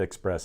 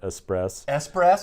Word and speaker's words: Espresso: I think I said Express earlier, but Espresso, we got to get that right.